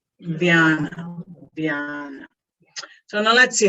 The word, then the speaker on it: Vyana: Say Vyana, Vyana, Vyana.